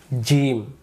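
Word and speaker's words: ج: উচ্চারণ হবে এরপরে আমরা জিম অক্ষর শিখবো জিম অক্ষর আমরা এখন উচ্চারণ করব জিম এই জিম অক্ষরটা জিহ্বার মাঝখান থেকে উচ্চারিত হবে এখানে প্রশ্ন জিম অক্ষরে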